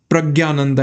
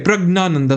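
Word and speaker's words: Praggnanandhaa: He's like, why do you keep on saying Pragyananda and not Pragnananda? It's because Pragyananda rolls off the tongue easily. I know it's a slight mispronunciation, but doesn't everyone say Pragyananda?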